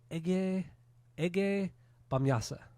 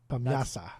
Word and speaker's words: Ege Bamyasi: Ege Bamyasa. Bamyasa. That's how you're supposed to pronounce it.